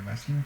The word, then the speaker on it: Bazin: La fórmula de Bazin, por ejemplo, se escribe Bazin, pero es Bazin, como es un francés.